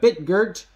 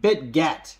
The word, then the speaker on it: Bitget: listed on bitgurt so you can download Bitcoin bit Gert which is spelled b-i-t or sorry B bit get sorry bit get uh from the Google Play